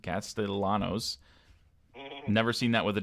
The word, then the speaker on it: Castellanos: few um cast Castellanos even though I thought it was Castellanos but apparently he pronounces it Castellanos never seen that with